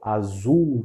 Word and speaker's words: azul: Assul, como a palavra hospital, nunca com som de u, como a gente faz em português no final. Hospital azul, não tá?